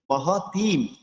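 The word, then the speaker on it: মহতীম: আচ্ছা, এর পূর্বের শব্দটি আমরা একটু টেনে উচ্চারণ করবো মহতিম। তিম অর্থাৎ তীর তর উপর দীর্ঘিকার রয়েছে, আমরা এই তকে একটু এই দীর্ঘস্বর উচ্চারণ করবো মহতিম।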